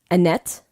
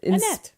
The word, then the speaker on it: Annette: In Germany, her name is Annette. Annette. Annette. Like the Mickey Mouse Club. Yes, Annette. just like Annette Funicello.